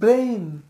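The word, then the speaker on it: brain: এটা আচ্ছা ভুল উচ্চারণ, ব্রেন না এটা হবে ব্রেইন, ব্রেইন।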